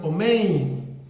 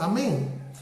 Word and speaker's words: amén: Por ejemplo, los judíos askenazitas mencionan omein, también amén, y el sefardita lo ha pronunciado amén.